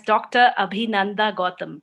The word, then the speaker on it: Abhinanda Gautam: You can properly pronounce me as Dr. Abhinanda Gautam.